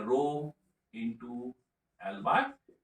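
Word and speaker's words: ρ: हम current pass कर रहे हैं और उसका क्रॉस सेक्शनल एरिया क्या है यहाँ पे। और ये जो सिंबल आप देख रहे हैं, इस सिंबल का प्रोनाउंसिएशन होता है रो।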